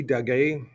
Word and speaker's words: Daguerre: Louis Daguerre, or Daguerre. Louis Daguerre. That's how you say it in French.